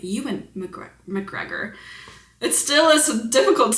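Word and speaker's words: Ewan McGregor: Oh, Euan McGregor. I have heard that before. I just never remember that that's how you say his name. Euan McGre McGregor.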